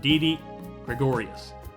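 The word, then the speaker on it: Didi Gregorius: is is DD Gregorius the answer at shortstop DD Gregorius I said it right that time DD Gregorius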